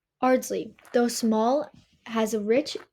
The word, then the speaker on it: Ardsley: Even the way we pronounce Ardsley tells a story. In England, it is oddsly, non-rodic with the R dropped. Here in New York, however, the R stays strong. Ironically, that's what makes our pronunciation closer to how English was spoken centuries ago, more traditional than modern British English itself.